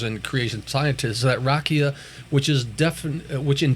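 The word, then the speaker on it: raqia: which is a Hebrew word uh r-a-q-i-a but it's spelled rakia which is referring to just the globe we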